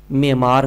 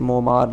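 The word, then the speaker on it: معمار: Next question है, Muallem को कौम का डैश भी कहा जाता है, मेमार कहा जाता है, जिसे मोमार या मामार हम पढ़ते हैं लेकिन मेमार इसकी असल प्रोनाउंसिएशन है, मेमार कहा जाता है।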